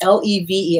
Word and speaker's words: Levy: we levy le ve Ariel Levy think it's what it's pronounces le ve it's called an abbreviated